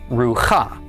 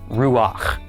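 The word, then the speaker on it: רוּחַ: So normally one would think that we would pronounce this rua but because of the special rule we just mentioned we pronounce the pak first. So instead this becomes ruach.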